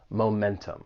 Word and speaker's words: momentum: where I'm from, but in general, you can't go wrong pronouncing that T, momentum.